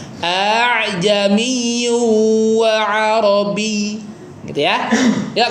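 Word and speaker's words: ءَأَعْجَمِيٌّ: Jadi sebenarnya ini hamzah hamzah a'jamiun tadinya ya. Tapi mungkin lidahnya orang Arab itu susah ya baca dua Hamzah yang e berdekatan sehingga Hamzah yang keduanya dilembutkan ya. Dilembutkan, dimudahkan bacanya. Dikasih istilah namanya tashhil ya memudahkan.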